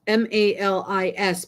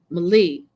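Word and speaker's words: malis: call it Mali it's m-a-l-i-s but the S is silent because it's like from French so Mali and Mali is is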